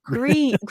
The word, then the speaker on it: Gris: Gris, right? Gree is like actually a French and Spanish word.